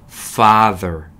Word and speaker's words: father: THER, the 라고 읽으셔야 돼요. 그래서 father 아니고 father 한번 따라해 볼게요.